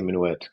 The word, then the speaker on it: minuet: I always say minuet because minuet is how you pronounce it in English.